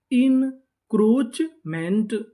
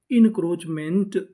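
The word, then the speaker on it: encroachment: ओ crow इन crow और जो यहां पे ए लिखा है यह हमारा साइलेंट रहेगा इसका उच्चारण नहीं करना सी एच चा इनक्रोच एम एन टीमेंट पूरी meaning इनक्रोचमेंट इंक्रोचमेंट इंक्रोचमेंट इंक्रोचमेंट का मतलब होता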